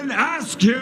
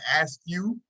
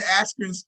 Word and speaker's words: Askren: Askren's face like, hey, my name ain't no Ben Askew. Like, you see Ben Askren's face. You see Ben Askren's face when Michael Buffer says it. He's like, hey, you got my name wrong.